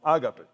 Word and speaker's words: agape: Seguramente muchos de ustedes han escuchado acerca del amor agape. Algunos lo pronuncian como ágape, el cual es la forma más elevada de amor, el amor divino, el amor incondicional, abnegado, profundo y perfecto.